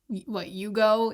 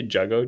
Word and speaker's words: jugo: It's actually pronounced Yugo in Spanish, and it's juice. Yeah. Do you say jugo juice?